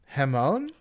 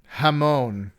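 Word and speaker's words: jamón: Hamone is But is it spelled with a J?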